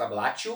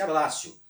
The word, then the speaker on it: abbraccio: também comprei tá certo lei parece ter sido ablation mas pronuncia-se abbraccio a consumação ocorre quando